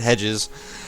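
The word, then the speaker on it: Hejaz: playing game as uh hij Jazz here or as Shen pronounces it Hedges and this is the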